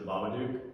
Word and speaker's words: Babadook: so another one is The Babadook.